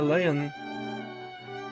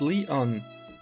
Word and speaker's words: Leon: I'm Lion. Lion? Who the heck are you? It's written as... but pronounced Leon.